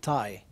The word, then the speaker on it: TAI: Pronounce it Thai. Not the country Thai or the Thai, but or the action Thai, but TAI. What TAI stands for, you think?